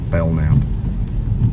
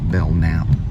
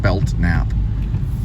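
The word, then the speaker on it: Belknap: it between Belt Line it's actually bellnap without the te actually with a b e l k n a p belnap but most people would pronounce it belt naap I don't know why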